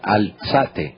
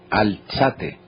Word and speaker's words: Alzate: no bueno Sí señora se pronuncia alzate alzate María Muchísimas gracias Bueno a